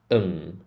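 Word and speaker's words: Sydenham: video we went through how ham is not pronounced ham it's um a quick um sound um sidim siden syum syum so I say that quickly it's syum but if you're struggling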